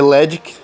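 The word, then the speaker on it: Ledgic: O Redick, que na verdade é Ledick, ele é pronunciado Redick em japonês, mas é Ledick, o nome dele. É que é escrito Ledick.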